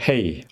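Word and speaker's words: הֵא: 그 다음에 헤이. 제가 해라고 발음하지 않고 헤이라고 발음하는데요. 해라고 발음하셔도 됩니다.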